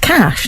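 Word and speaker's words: cache: okay say no more come on craw it's pronounced cash not cach a I know it's spelled cash with an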